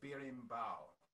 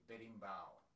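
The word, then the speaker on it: berimbau: called a bearing bow it's spelled b e r i m but if you say it fast it sounds like you're saying bed like bed uh so you could say bedding bao betting bao all right just could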